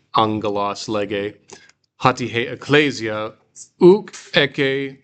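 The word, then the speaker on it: ἄγγελος: Now I didn't pronounce this agelos, but remember, 2 gammas next to each other makes an ng sound. Ha'angelos lege, not a ng, but a sort of a nasal G.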